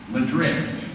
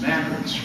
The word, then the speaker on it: Madrid: over and I go to these towns uh Madrid no it's mad I go to another town uh I'm a